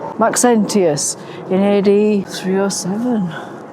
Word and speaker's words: Maxentius: Maxus I can't pronounce it. Maxentius Maxentius in AD 307.